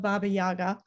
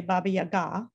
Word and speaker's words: Baba Yaga: And I will say that I am mispronouncing the name of Baba Yaga. A Russian speaker would say Baba Yaga, I believe.